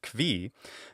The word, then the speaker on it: qui: I was actually expecting kvi, because that's the traditional pronunciation originally from Germany and then happened to spread to all the Slavic countries for some reason. So you would normally expect a Slavic speaker to say something like kvi or kvo, but she doesn't do that.